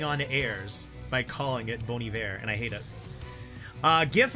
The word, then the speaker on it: Bon Iver: that's like uh like there's an artist by the name of boney there and I always called them bon iver because I live in Texas and now that I